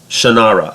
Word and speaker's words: Shannara: a one to five the sort of genre Shannara I didn't sorry I just found out that that's how you properly pronounce the name the Sword of Shannara gets